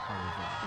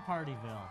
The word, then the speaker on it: Pardeeville: a good time in partyville well maybe it's because the name sounds like even though it's not spelled like it's a party in partyville speaking of in a